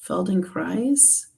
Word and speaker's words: Feldenkrais: Pamela says a long I in the Kreis part, Feldenkrais.